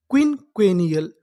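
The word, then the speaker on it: quinquennial: Queen क्वेनियल।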